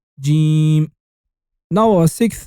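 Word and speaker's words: جيم: So now you got Jim. And do you know what Jim sounds like? Yes, you're right, like the J of Jacobs. You say J, J, J, Jim.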